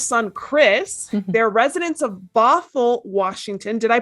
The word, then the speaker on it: Bothell: mom to john's son chris they're residents of bothell washington did i pronounce that correctly yes yay they're owners of